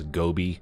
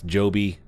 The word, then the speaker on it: Joby: by the way I've mentioned the name potentially as Gobi it's Joby I go back and